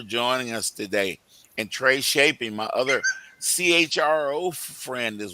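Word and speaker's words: Tschoepe: one in HR, that's going to be Trey Shapy. Now, I'm y'all going to have to look at how to spell that cuz I I know you guys aren't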